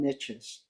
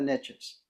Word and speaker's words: niches: Niches, riches are in niches, which actually is not the correct pronunciation of the word, but riches are in the niches, right?